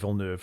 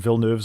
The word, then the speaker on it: Villeneuve: wonderful direction, and I'm delighted to see Denis Villeneuve has come back and agreed to do at